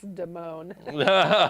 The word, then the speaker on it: Damone: Damon says, no, it's Damone. Damone.